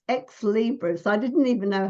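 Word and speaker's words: Ex Libris: have a look it's at the company it's ex Libras I didn't even know how to say it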